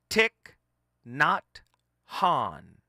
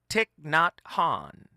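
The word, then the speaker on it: Thich Nhat Hanh: legendary spiritual leader and this is the actual pronunciation of his name tick not Han tick not Han right and of course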